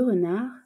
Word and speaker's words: renard: Il s'agit du mot renard, R-E-N-A-R-D. La lettre finale muette pour le mot renard sera donc la lettre D.